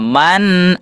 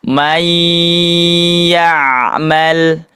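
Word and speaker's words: مَنْ يَعْمَلْ: Manah man amana. Nah, di antaranya bertemu Hamzah ya ee minggu kemarin. Kalau ini bertemu dengan ya, maka cara pengucapannya tidak jelas tapi dimasukkan, diidgamkan. Tidak dibaca man, tapi may ya'mal.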